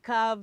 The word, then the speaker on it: calf: Look, a baby calf, there's a silent hell.